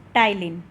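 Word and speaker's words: ptyalin: यह also known as और स्टाइलिंग P silent है बच्चा कि आपके जो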